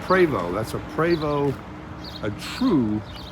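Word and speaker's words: Prevost: r e v o s t that is pronounced preo that's a preo a true bus and they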